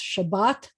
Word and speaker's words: Shabbat: But you'll notice Shabbat, the accent's on the second syllable.